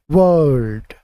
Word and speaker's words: world: देखिए इसमें एल जो है ये साइलेंट इसका प्रोनाउंस हुआ है, वर्ल्ड। ठीक है, इस तरह से इसको करना है, वर्ल्ड। एल को प्रोनाउंस बहुत बड़ा नहीं करना है, साइलेंट करना है।